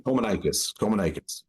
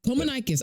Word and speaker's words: Kominakis: I'm trying to Kominikis. Did I say it right again? I think I said it right that time. I thank you so much. Yeah, Kominikis. Kominikis. I literally wrote it Nikis.